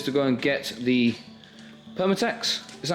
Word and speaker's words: Permatex: We've nipped out, gone home to Alex's to go and get the Permatex. Is that how it's said? Is it? Yeah. Permatex, yeah.